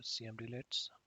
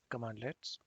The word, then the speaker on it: cmdlet: the powershell commandlets or cm deletes basically the cmd leds are known as all pronounced as commandlets and scripting how we